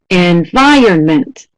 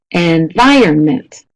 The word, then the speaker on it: environment: Number 7, getting a little bit longer, a 4-syllable word. Environment. Da, da, da, da. Da, da, da, da. Environment. And we have almost 100% at B, and that's correct. It's the 2nd syllable.